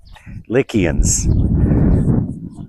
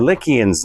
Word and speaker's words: Lycia: Anyway, the story is the Lycians lived here. Lycia, pronounced with a K locally.